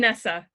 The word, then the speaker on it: Anissa: to ena female today I get to interview a nice a so welcome hi your name correctly I'm Nessa Nessa okay it's okay everyone mispronounces it alright so um Nessa when did